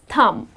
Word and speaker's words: thumb: The correct pronunciation is Thumb. The letter B is silent.